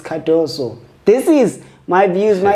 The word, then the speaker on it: Cardoso: That's why R is silent, so it's Cardoso.